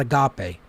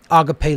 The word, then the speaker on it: agape: placed on certain syllables the word agape is pronounced just as i just pronounced that agape it's not agape agape and then thalema